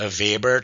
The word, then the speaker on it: Weber: The vber test, remember I said you even though it it's spelled vber, it's pronounced I mean it's spelled